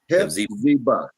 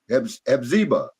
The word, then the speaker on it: Hephzibah: But thou shalt be called Hephzibah. You said it right. Okay, Hephzibah.